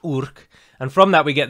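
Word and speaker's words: Yrch: there is a difference it's spelled y-r-c-h and it's pronounced urk and from that we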